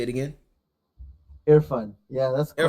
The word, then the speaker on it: Irfan: Irfan. Yeah, that's quite Irfan.